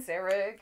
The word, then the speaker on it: Sarek: Yeah, Sarek.